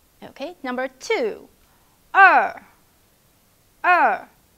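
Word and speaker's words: 二: e okay number two er er it's a falling tone so release your emotion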